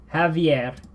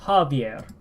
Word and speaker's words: Javier: What's interesting to note between the two pronunciation would be the way the A is pronounced. In the Spanish, it's Javier, Javier. Javier, and then the English, it's the Javier. Javier. It is a falling H or falling A vowel.